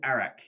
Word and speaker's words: arak: But there it's called Arak. It's the country? Close enough. Spelt with an A.